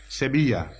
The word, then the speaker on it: Sevilla: it reads throughout seven it is pronounced in Spanish Sevilla if bridge is an